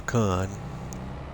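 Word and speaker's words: Kuhn: a square baler yeah it's a k Uhn a con and I'm going to pronounce it that way so so the YouTube doesn't come after me as well thinking I'm using a slur but the K brand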